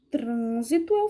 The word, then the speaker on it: trânsito: nós usaria trânsito trânsito fecha um pouco a boca não é trânsito seria o tran a sílaba tônica como seria onde eu colocaria o assento e eu colocaria o acento agudo ou perdão acento circunflexo porque o som é fechado trânsito do mesmo jeito